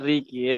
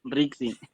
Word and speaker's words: Rixi: Cierto, Miss, sobre mi nombre, bueno, no es Ricky, es Rixi. Risi se escribe, ¿verdad? No, claro, se escribe Rixi, pues se pronuncia Rixi.